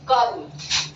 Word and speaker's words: कर्म: शिरो रेखा से ऊपर लगाते हैं और वर्ण से पहले इसका उच्चारण होता है।